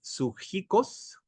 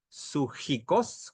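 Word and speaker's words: ψυχικός: Y dice, continúa en el verso 15, la palabra animal aquí, del verbo, empieza con P, pero se pronuncia, creo así, sujikos, como dicen los griegos tal vez, sujikos, con J y K, pertenece a lo natural o físico, mas no a lo espiritual.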